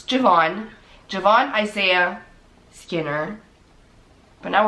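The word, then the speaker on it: J'Vaughn: No, you didn't say Javian. You said Javon. So okay, so it's Javon.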